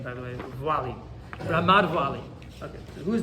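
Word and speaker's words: Valle: That's how you pronounce that name, by the way, Vuali.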